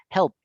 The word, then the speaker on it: helped: Y como no tienen vibración al final, por eso es que yo las termino pronunciando con una T, porque físicamente no tengo vibración y la T tampoco tiene vibración. Entonces yo digo, helped.